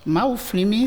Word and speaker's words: Maouflimi: Maouflimi, c'est en 3 syllabes.